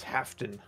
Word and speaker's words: Hafton: That is Hafton, which is spelled like half of a Dan, without the of.